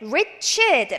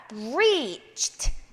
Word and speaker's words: reached: 자, reach에다가 ed가 붙었는데 reached 라고 읽지 않도록 주의하시기 바랍니다. reached, 이렇게 vocal cord, 목 성대를 쓰지 않는 사운드가 나와야 됩니다.